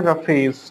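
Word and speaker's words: roughage: Spelling फिर से बोल दे रहा हूं, क्लियर लिख दे रहा हूं, RUGHAGE, रफेज लिखते हैं, RUGHAGE, और पढ़ते हैं रफेज।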